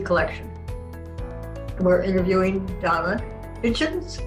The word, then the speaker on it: Hitchens: with the be collection and we're interviewing donna kitchens how do you how do i say that